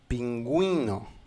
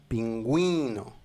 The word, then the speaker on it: pingüino: Par exemple, dans le mot pingüino, c'est pour séparer le son de la "u" et la "i" pingüino manchot, le manchot, l'animal manchot.